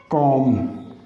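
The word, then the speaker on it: comb: अगर letter single syllabic है और उसके एंड पे एम बी का कॉम्बिनेशन आ रहा है तो हम बी को साइलेंट कर देंगे।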